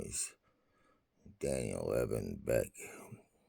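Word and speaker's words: Boek: name is Daniel Evan Beck Daniel Beck the uh back is spelled and uh and uh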